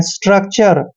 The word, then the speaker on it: स्ट्रक्चर: STRUCTURE, एस का उच्चारण से करते हैं और टी को हमने टे पढ़ना है, आर को रे पढ़ते हैं और UC का उच्चारण यहाँ पर आधा कै करेंगे। TURE को चर पढ़ते हैं।